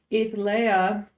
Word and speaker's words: Etha: realized when I put they calling her Earthly but that's not really what her name is her name is Etha and she is the